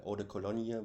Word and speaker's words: Eau de Cologne: And it was not about Eau de Cologne, or as we say, Eau de Cologne with a French pronunciation, because yeah, when this